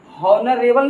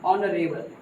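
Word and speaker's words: honourable: हॉनरेबल नहीं पढ़ेंगे, ऑनरेबल, ऑनरेबल, क्योंकि एच यहाँ साइलेंट है बच्चों।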